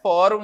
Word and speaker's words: fórum: Como é que eu separo o fórum? Fórum, 2 sílabas, né? Mas não é o rum que vai receber o acento, é o fó, que é uma paroxítona.